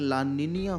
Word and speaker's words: La Niña: youtube1 word है और इसको ला निनिया कहा जाता है इसका प्रॉपर जो प्रोनाउंस एशन है ला निनिया है लेकिन भैया हमें देसी लोग तो जो दिखता है वही हम बोलते हैं तो इस वीडियो में मैं इसको ला निना ही बोलूंगा तो कोई होशियार कमेंट